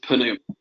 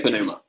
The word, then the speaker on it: pneuma: the other day, because do you pronounce that first letter or not? Is it pneuma or is it pneuma? So it depends on who you talk to. If you want to use strict Erasmian pronunciations, it is pneuma.